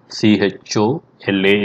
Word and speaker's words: Chola: C-H-O-L-A is what we write in English, but we pronounce as C-H-O-Z-H-A, Chola.